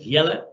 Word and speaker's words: Jelle: Typical Dutch name, you pronounce it Jelle, so it's not jelly, it's not gel, but you can call me that as well, no problem.